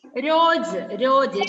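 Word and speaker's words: रोज: രോജ്. ജായുടെ ഇടയ്ക്ക് ഒരു കുത്ത് കാണുന്നില്ല, അപ്പൊ ജ് വായിക്കുന്ന കേട്ടോ, രോജ്. ജോജ് എന്ന് വായിച്ചാലും കുഴപ്പമൊന്നുമില്ല, അതിനൊരു കുറച്ചൊരു ഉച്ചാരണം വ്യത്യാസം ഉണ്ടാവും.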